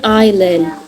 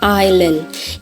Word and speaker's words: island: Ini juga kenapa dibacanya island? Kalau ini kenapa? Karena dia itu termasuk bahasa serapan. Dan di bahasa ini tuh bahasa aslinya S itu di silent. Jadi mereka bacanya cuman island. Ilan i-nya itu berdiri sendiri. Lan itu suku kata kedua dan yang ininya kena yang inya word stress.